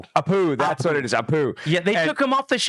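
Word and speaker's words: Apu: Uh the Apoo Apoo, that's what it is.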